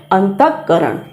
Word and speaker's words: अंतःकरण: तो इस विसर्ग का हम आधे विसर्ग के रूप में उच्चारण करते हैं अंतःकरण।